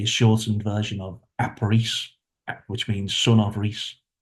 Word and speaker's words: Rhys: But for me, I still like. So I'm Yeah. like, you're It's wrong, just, I'm right. yeah, but Reese, the way it's spelled, that is a very old Welsh name, Reese.